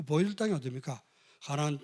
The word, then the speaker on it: 가나안: 가나안. 아, 잘못 발음하면 가난한 그래. 가난한 동네가 아니라 이게 가나안.